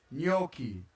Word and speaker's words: gnocchi: Being not gnocchi or gnocchi, just gnocchi. Gnocchi. It's pretty easy, just gnocchi, like G-N, gnocchi.